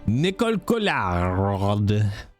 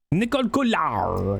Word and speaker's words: Nicole Collard: Montfaucon, Saladin, Nicole Collard. That's how you pronounce it properly, chat, by the way. Nicole Collard.